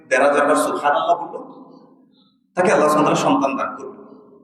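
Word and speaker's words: سبحان الله: আপনি চিন্তা করতেছেন আমি মুখে জড়তা আছে, সুবহানাল্লাহ বললে কত ভুল হয়ে যেতে পারে। হাটা আবার ওই যে হালকের মাঝখান থেকে উচ্চারণ করতে হয়, সুবহানাল্লাহ, হার একটু বাতাস আসতে হয়, আমার তো শুদ্ধ হয় না।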